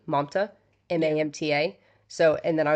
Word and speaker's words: Mamta: And, so Nadia Navarro is Mamta's best friend, one of them.